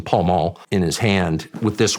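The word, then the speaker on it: Pall Mall: have a pel Mel he pronounced it pel Mel for some reason Paul mul in his hand with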